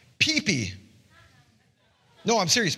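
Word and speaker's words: ΠΙΠΙ: And this word in Greek is pronounced pee-pee. No, I'm serious, pee-pee.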